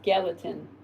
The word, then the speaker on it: Gallatin: Gallatin or Gatlin? It's Gallatin.